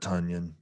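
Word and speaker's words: Tonyan: at another oh nope robert tunyan that's right rhymes with funyun going against indianapolis not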